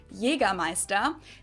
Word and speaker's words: Jägermeister: Jagermeister in German, Jägermeister. English speakers usually say Jagermeister, which is pretty much the same, just with a pretty thick accent.